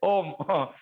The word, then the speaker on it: ओम: ओ बोलेंगे तो मुंह खुला रहेगा, म बोलेंगे तो ओठ चिपक जाएंगे और आपकी लिप चिपक जाएगी, और जो म का उच्चारण है वो पूरे ऊपर के चक्र को वाइब्रेट करेगा।